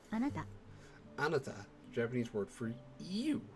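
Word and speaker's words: あなた: Would you like to listen to the pronunciation again? So it's anata.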